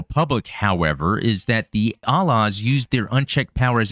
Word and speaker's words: A-Laws: And I want to keep seeing A-Laws because there's an A in front of it, but when I hear them pronounce it, it's A-Laws. But again, that is Titans right there.